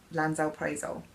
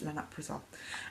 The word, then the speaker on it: lansoprazole: I've been pronouncing it wrongly, lansoprazole. But to be fair, that's how my surgeon worded it as well. But she was like, no, it's lanoprazole.